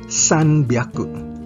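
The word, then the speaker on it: 三百: Pero may inflection tayo o pagkakaiba sa pronunciation dito. Ang H ay nagiging B. Kaya imbes na hyaku, ito ay nagiging byaku. Kaya ang 300 ay sanbyaku.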